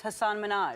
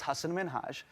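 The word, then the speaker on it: Hasan Minhaj: please because everyone that says your name says hassan minaj yeah but the real way you pronounce it and this is a big deal because my parents are here it's hassan minhaj and people always mispronounce it they're always like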